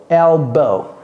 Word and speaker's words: elbow: manière B O W mais ça c'est pas l c'est ELB elbow ok comme s'il y avait pas de W là-bas alors ça c'est quoi c'est